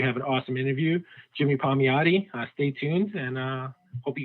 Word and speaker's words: Palmiotti: So did I pronounce that correctly? Yeah, Palmiotti.